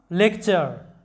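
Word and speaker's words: lecture: লেকচার, লক্ষ্য করো LEC lake, TURE চার, লেকচার, লেকচার।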